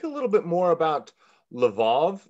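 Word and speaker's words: Lwów: little bit more about levov it's pronounced l-l-w-o-w yes uh it now is uh lev it's uh it's now in the ukraine there was a question as to whether levouf to use the polish name should be on which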